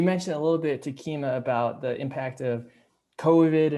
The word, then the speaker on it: Takima: east line public schools welcome to keema am i saying it correctly yes you are thank you okay glad